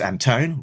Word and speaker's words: Anton: Anton who's behind uh Alex Anton rhymes with phone.